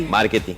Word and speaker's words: Marchetti: Marketing. Se escribe Marchetti y se pronuncia Marketing.